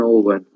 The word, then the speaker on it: Olwen: But you have other names which are probably hard to pronounce. Kilhuch, Kilhuch, and Olwen.